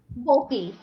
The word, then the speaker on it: Boehlke: So if you guys were not tuned in to the other side, this is Mary Boehlke, right? Am I saying it right? Boehlke. Yep. Okay.